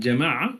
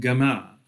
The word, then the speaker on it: Jama'ah: Today in Arabic, there are people, for example, in Egypt, that pronounce the letter Jim as Gim, right? So masjid would become masjid, and Jama'ah would become Gama'ah, and Jannah would become Ganna.